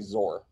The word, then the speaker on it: XOR: bitwise or uh bitwise xor or zor however you want to pronounce it i always say xor but i think that i think the com the current thing people do say zor i think the yeah